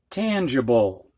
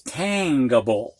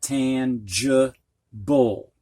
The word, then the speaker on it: tangible: which is usually so we normally think of this as tangable but it's not pronounced that way sometimes combinations don't work